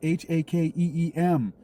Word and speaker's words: Hakeem: It's h a k e e m. h a k e e m. h a k e e m. It's Ha-keem, a long e sound with two e's.